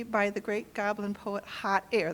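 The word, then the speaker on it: Hahtayre: the Great Goblin poet hot air that's spelled h a h t a y r e by the way it's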